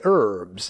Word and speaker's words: herbs: actually always say herbs we in america say herbs in england they say herbs same thing with salves and salves except that in america both of them are in common use there is no right answer there is no wrong answer because i was thinking